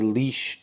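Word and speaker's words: lich: is a who is a leash that uh or or lick however you want to uh pronounce it i've always said leash uh it's an undead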